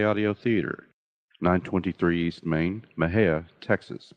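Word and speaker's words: Mexia: theater 923 East Main Maha Texas Maha is spelled me x i a the zip 76667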